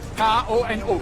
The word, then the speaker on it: Kono: Le Kono, ça s'écrit comment ça? K-O-N-O, comme ça se prononce.